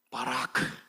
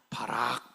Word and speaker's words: 바라크: 사랑하는 여러분, 바라크 따라서 가세요. 바라크. 바라크. 발음 잘해야 돼요. 바락. 바락 하면 안 됩니다.